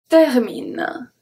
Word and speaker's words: termine: Se termine. So, se, se, we good on that. Termine, termine. Do you know why the E is pronounced as a E? Because it's followed by two consonants.